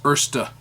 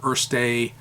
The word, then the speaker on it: Erste: So look on my channel here for the Jim Hines Erste or Erste. Don't really care how you I pronounce it. call it Erst. I know, but Germans don't like it when we do that.